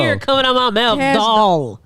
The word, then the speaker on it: Cash Doll: Cash doll. That's how I say Dow. Doll. Say Barbie doll.